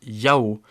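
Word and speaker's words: 幺: qui est intéressant c'est quand les Chinois disent un ils disent souvent Yao c'est une prononciation provenant de l'armée chinoise au moment où on passait les informations à travers des chiffres le but était de prévenir certaines incompréhensions à cause de la prononciation ok on va s'arrêter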